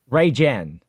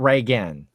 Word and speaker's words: Reagan: It's Ray Jen, not Reagan. Ray Jen. Well, it looks like Reagan.